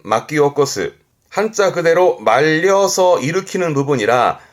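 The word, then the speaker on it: 巻き起こす: 발음은 마키오코스. 한자 그대로 말려서 일으키는 부분이라 먼지를 일으킨다라든가 그 일으킨다라는 의미에서 예상 밖의 일을 야기하는 그래서 뭔가 혼란을 일으킨다라든가 사회적 반향을 일으킨다라든가 그런 문제를 일으키는 그런 부분에서도 이제 마키오코스 쓰기도 하고요.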